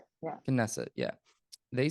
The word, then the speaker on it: Knesset: of the kidney set or the set I pronounce that correctly yeah knesset yeah they said they may ignore what they